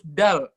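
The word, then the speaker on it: د: disamain Al bahasa Arabnya huruf Dal da itu bacanya itu di belakang gigi seri persis jadi deh nilai teh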